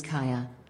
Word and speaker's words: Kaja: My daughter's name is Kaja. Right. My daughter's name is Kaya.